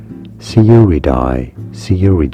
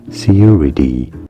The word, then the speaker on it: Sciuridae: It is generally pronounced as Sciuridae, although it can also be pronounced correctly as Sciuridae.